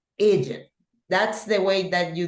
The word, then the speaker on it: Egypt: Cuando es una E y sigue una consonante, pues la pronunciación de esta palabra es I, ¿verdad? Y por eso es Egypt. Y a veces viene la confusión que la gente dice Egypt. No, Egypt.